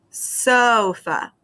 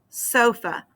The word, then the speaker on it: sofa: So, for example, in the word sofa, you see the first syllable is so, and that's an open syllable because it ends with a long O sound.